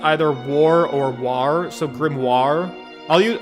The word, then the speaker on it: grimoire: great grimoire the great grim war maybe war i don't know war grimoire like film noir grimoire film noir grape grimoire the great